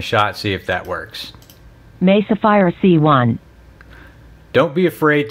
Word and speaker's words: Mesa: It's pronounced Mesa, but the computer reads it as Mesa Fire C1.